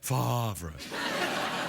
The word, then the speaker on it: Favre: The rumors that Brett Favre may, I should say it properly, Brett Favre, that he may unretire and play for the